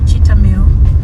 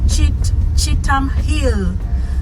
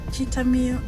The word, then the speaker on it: Cheetham Hill: But where I am going, it's called Temu, and that's the other way. Temu is written Cheetham Hill. Cheetham Hill. They just pronounce it Temu. They don't say Temu, they don't say Cheetham Hill, they say Temu.